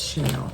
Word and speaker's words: shale: Vowel, consonant, silent, E. E makes the A say A.